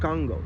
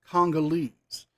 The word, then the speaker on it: Congolese: they say I'm 1% Congo. No way. Actually, it would be pronounced Congolese. That's what it would be pronounced, not Congo.